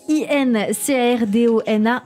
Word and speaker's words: Incardona: Incardona, ça s'écrit I-N-C-A-R-D-O-N-A, Incardona écrit, et ça se dit Incardona.